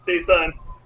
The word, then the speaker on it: Seisan: All right, section 3 of Chaeson, Seisan, the pronunciation we're working here.